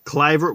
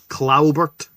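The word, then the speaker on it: Kluivert: And then we got a penalty for handball by Clivert, which Barry Davis pronounced as Claubert.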